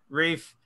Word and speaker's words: Rieff: the therapeutic Phillip reef is that how you pronounce reef right breathe yeah reef talked up a bit about a British technologist